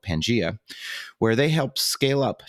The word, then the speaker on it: Pangea: then did i pronounce pangaea the way that you prefer to pronounce it it is like the old continent bringing the world back together pangaea wonderful so tell us